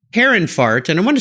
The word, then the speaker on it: Herrenfahrt: more about your car care line again it's Harun fart and I want to spell that for the listeners h e RR en